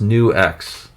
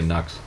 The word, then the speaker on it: NUX: It's pronounced New X. Oh, yeah. I knew that it was pronounced New X. I still say Nux.